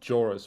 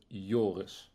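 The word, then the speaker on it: Joris: I don't myself so the actual the Dutch way to say my name is Yus Yus so the I turns into like a slight U you could say yeah and it's not jorus but yoris oh okay so you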